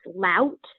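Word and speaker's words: Laut: just for everyone's clarification my last name is pronounced lout um just like uh you know like the insults you're allowed but i'm hopefully not usually that um so i did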